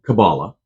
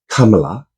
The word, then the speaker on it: Kamala: to say it yeah comma like a comma in punctuation la la la la la comma law yes they give everybody